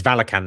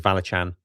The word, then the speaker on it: Valachan: It's Valakan now. I always thought it was Valachan. Well, I wasn't sure if it was Valachan or Valakan because I've heard different people pronounce it different ways.